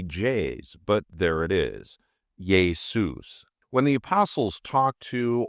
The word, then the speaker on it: Ἰησοῦς: Jesus, and it's pronounced yay-SOOS, with the emphasis typically on the second syllable, soos. Now, maybe the Greeks were having budget cuts and couldn't afford any J's, but there it is, yay-SOOS.